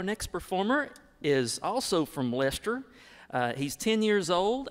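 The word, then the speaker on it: Leicester: our next performer is from lester north carolina and it is pronounced lester she is eight years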